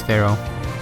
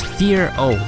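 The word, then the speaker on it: Fearow: a shot from this Pharaoh hero Pharaoh how do you pronounce it I think it's fear o like it's supposed to be scary fear not Pharaoh I don't know it's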